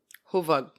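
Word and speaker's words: Hövåg: Huvug. That's how the mattress is pronounced.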